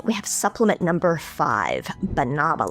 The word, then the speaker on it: banaba: And finally, we have supplement number five, banava leaf. No, not banana, bananaba. It's spelled B A N A B A.